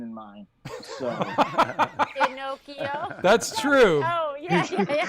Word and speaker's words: Pinocchio: Pinocchio. No, she said it wrong. She said it wrong. Buzz her. Pinocchio. It is Pinocchio.